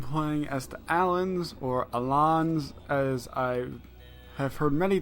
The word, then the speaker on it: Alans: as to alan's or Ilan's as I have heard many times with Tiger people are so my friends only you know you're an idiot it's not pronounced Allen's right you idiot well